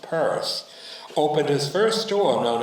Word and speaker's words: Pierce: Well, in a lot of ways, Samuel Stillman Pierce, by 1837 pronounced Perse, opened his first store